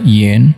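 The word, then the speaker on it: 广: Guang Zi Pang artinya luas, atau ada yang mengatakan yen, huruf ini bacanya adalah yen, artinya rumah.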